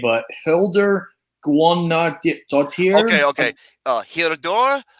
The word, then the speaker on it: Guðnadóttir: this name, but Hildur Guðnadóttir. Okay. Hildur Guðnadóttir. I think that's how you pronounce it.